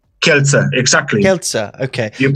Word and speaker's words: Kielce: Kielce? Kielce, exactly. Kielce, okay. You pronounce it good, yeah.